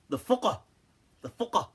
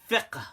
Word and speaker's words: fiqh: But they actually pronounce it fuqah, some of the Arabs today, as in this day and age. So, but in traditional fiqh, it's called fiqh with a kasra, okay? Not with a dhamma.